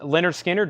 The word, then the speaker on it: Lynyrd Skynyrd: Hart is 29.99 transparent red vinyl Lynyrd Skynyrd pronounced Lynyrd Skynyrd new and sealed 36.99 Hardy the Mockingbird and